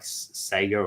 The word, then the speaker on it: Sega: really know about like sega or sega depending on how you say it um and some of